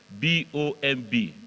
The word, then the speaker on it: bomb: You see, when you have this word, this word B-O-M-B is bomb.